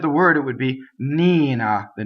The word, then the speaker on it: Nina: is a good word now of course the word named Nina in this case is going to have a double end to start because of the word K as a strong mono solo it doubles the end but in the middle of the word the end is a single end right so I can't do